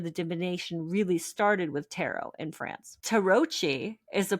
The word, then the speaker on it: tarot: But I always knew this the T was silent, but I never really